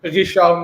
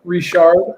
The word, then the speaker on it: Richard: When you speak French, you roll the R like at the back of your throat, so it's Richard. Oh, okay. Yeah. Instead of Richard, R.